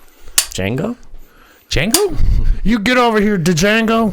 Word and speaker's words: Django: You get over here, Django. Django. D silent. The D is silent.